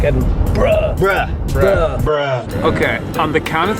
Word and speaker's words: Edinburgh: So, I'm pretty sure it's pronounced Edinburgh. I that's what I said in the vlog. So, I hope that's right. I think Edinburgh. I think it is Edinburgh. It's like Edbr.